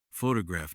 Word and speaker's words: photograph: For example, photograph noun is stressed on the first syllable, but photographic adjective is stressed on the third.